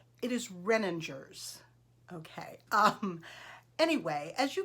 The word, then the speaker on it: Renninger's: that i am saying it correctly it is renningers okay um anyway as you can tell they